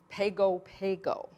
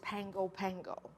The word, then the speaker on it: Pago Pago: reciting a line and he mentioned the island pago pago and I crept up to him at the